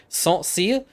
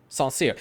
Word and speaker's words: Saint Sére: So thank you for telling me that I was kind of pronouncing it, yes, correctly in a way, Saint Sére. So we're going to stick with that one, Saint Sére.